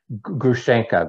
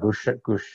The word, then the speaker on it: Grushenka: Correct my pronunciation, because you have an accent. Grushenka, Grushenka, yeah.